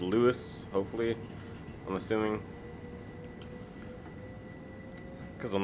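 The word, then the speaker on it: Lewes: it was Adam that told me how to pronounce the name of this town it's Luis hopefully I'm assuming because I'm the last video I was like lose Loes lose so maybe it's straight to run it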